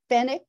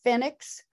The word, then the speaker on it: Fenwick: phonetically, basically, like, okay, F-E-N-W-I-C-K. How would you think that would be pronounced? Fenwick. It's Fennec or Phoenix or Fennec. Or I've even seen it Phoenix.